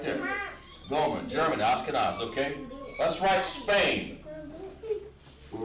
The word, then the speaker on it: Ashkenaz: And it's called, of course, the way you spell them is N-A-Z. That's how you pronounce it in Hebrew. Ashkenaz. They pronounce it Ashkenaz. Not too much different.